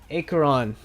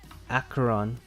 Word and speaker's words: Acheron: And even though the English speaking close to it, it's Acheron, but the actual pronunciation in Greek I think is Acheron.